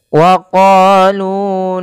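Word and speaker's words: وَقَالُوا: Pada ketika kita melafalkan waqalu lan tamassanaru panjangkan huruf qof dan lu harus sama bunyinya antara qo dan lu karena ia bacaan mad thabi'i. Qo dipanjangkan dengan alif, lu dipanjangkan dengan wau.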